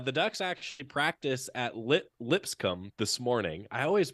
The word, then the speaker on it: Lipscomb: The Ducks actually practice at Lipscomb this morning. I always pronounce that wrong. Lipscomb.